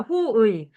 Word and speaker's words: 호의: 호의. 두 번째 글자라서 얘는 의가 원칙이고 이가 허용이야.